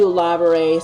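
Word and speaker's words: Laverre: So we got to Lavare City, is actually how it's pronounced.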